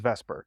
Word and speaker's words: VSEPR: like the separ but it's pronounced Vesper because that's easier to say so valence shell electron